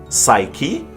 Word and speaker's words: psyche: pneumonia and pneumatic, and it's silent before S in a different selection of words such as psalm, psyche, and psychology.